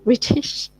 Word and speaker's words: British: Kalau British dia memang akan the normal T.